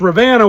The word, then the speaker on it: Ravenna: and you can see I'm going with the pronunciation of my Lup plat raised father I have to think Renna when I type it but it's Rana when I hear him say it uh and so I